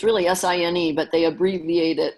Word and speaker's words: sine: If you're talking about the sine of this angle, It's really S-I-N-E, but they abbreviate it. It looks like sin, but it's pronounced sine.